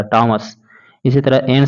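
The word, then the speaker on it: Thomas: इसी तरह से जब आप थॉमस लिखिएगा तो थॉमस के जगह इसको टॉमस बोला जाएगा, टॉमस।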